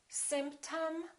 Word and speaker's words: symptom: This is and this is also because they're both reduced syllables. Repeat after me. Madam, problem, symptom, album.